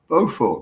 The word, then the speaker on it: Beaufort: Beaufort, that's it, yeah.